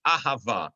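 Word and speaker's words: אהבה: most standard form the word for love is ahava it is spelled with the hebrew letter aleph the hebrew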